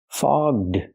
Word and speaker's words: fogged: call and ball fog foged we have to use the voiced GG sound fog plus the voiced D sound fog du link The Sounds her glasses get foged